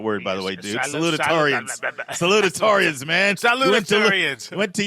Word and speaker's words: salutatorians: So if you add up the valedictorians and the salutatorians, that means you need to work on your pronunciation of that word, by the way, dude. Salutatorians.